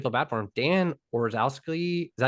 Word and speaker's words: Orlovsky: Dan Orlowski, is that how you say his name? Orlovsky, the old lifetime backup quarterback, is now he started for the Lions that went 0-16.